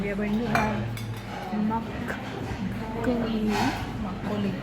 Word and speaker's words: makgeolli: I think it at the restaurant and we are going to have makgeolli.